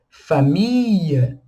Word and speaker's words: famille: A gente tem que prolongar o som de ia, ia, tá vendo como eu estou pronunciando? Ia, prolonga o som do i. Então fica famille, travailler, ia, famille, travailler, e assim sucessivamente.